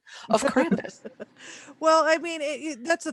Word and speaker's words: Krampus: And that's why I love seeing all these different Krampus, because we're taking information that we knew of from the 17th century and we're still able to layer it onto modern interpretations.